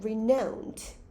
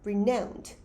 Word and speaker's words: renowned: tuned 채널 고정하세요 뜻입니다 강세 살펴볼 건데 renowned 여기 강세 있고요 renowned 강세 앞에 있어요 message 그러면 복수 형태면